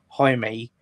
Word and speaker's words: Jaime: be the main reason why I need to pronounce his name right. Jaime.